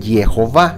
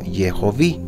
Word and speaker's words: Jehová: del nombre Elohim y aquí ya no dice Jehová sino yovi Je hovi es diferente de Jehová Entonces si Jehová fuera